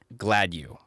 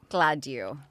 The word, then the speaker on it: Gladieux: So, I pronounce it Gladue. Gladue. But, Gladue. Soft u. Like you're glad.